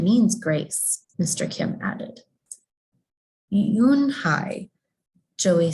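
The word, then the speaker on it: Unhei: turned to joey she nodded slowly yes it's pronounced and it means grace mr kim added yoon hi joey said slowly and this time perfectly with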